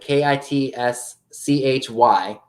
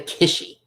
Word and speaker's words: kitschy: bucks number 413 yeah its squishy like it's spelled like ki T as Michelle put it ki t s CH Y but we say kitschy we don't say kissy because kissy sounds weird alrighty so that was